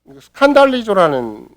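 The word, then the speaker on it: σκανδαλίζω: 있겠지만 실족해 한다는 말이 스칸달리조라는 헬라어예요. 스칸달리조. 그러면 여러분과 제가 발음하는 걸 딱 보니까 뭐와 똑같아요. 스캔달이라는 말과 똑같잖아요.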